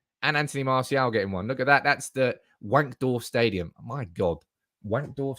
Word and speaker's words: Wankdorf: The W is pronounced V, Wankdorf. Okay, it's Wankdorf.